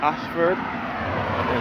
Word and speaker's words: Ayshford: yesterday's Holy Innocence Anglican Church which is that Ashford Thomas Ashford is spelled a-y-s-h-f-o-r-d and again this is the water